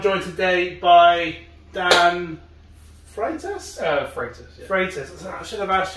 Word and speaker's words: Freitas: Freitas. So I should have asked you how to pronounce it before we started. It's Portuguese. Everyone struggles with it. I can't really write. Freitas.